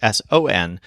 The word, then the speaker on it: son: So this word is spelled like the word sun in English, S-O-N, but it's pronounced more like son.